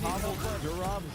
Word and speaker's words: Pavel Durov: So I think you pronounced his name. It's Pavel Durov.